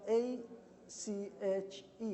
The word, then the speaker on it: ache: So notice the A-C-H-E, which is ache. This is the way that we pronounce, but this is the way we spell it A-C-H-E, ache. This is the way we pronounce it.